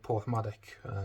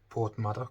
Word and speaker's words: Porthmadog: And there's a really nice beach which is not too far away from me in a place called Porthmadog, or Porthmadog, depending on how you pronounce it, which is on the North Wales.